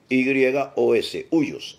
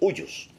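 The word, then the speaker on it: υἱός: Para eso, el término usado en el griego en el cual se escribe el Nuevo Testamento es la palabra huios, H-U-Y-O-S, huios, el huios.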